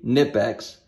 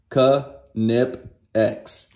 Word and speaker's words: Knipex: i pronounce knipex wrong they say it's supposed to be nip x well according to canipex it's pronounced ka nip x and also that's another